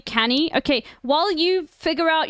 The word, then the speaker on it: Cannae: Wait, fuck, it's apparently canny.